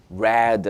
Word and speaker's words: read: 시간이 중요하니까 과거 좋아요의 과거형은 read 아고 합니다 철자는 똑같지만 발음이 달라요 그래서 I read a book